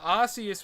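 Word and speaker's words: Arceus: Yeah, Arius was the original pronunciation.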